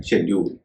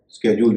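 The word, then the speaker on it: schedule: सी एच ई डी यू एल इ इसका उच्चारण है शेड्यूल कई लोग इसको स्केेड्यूल भी कहते है वही सही उच्चारण इसी तरह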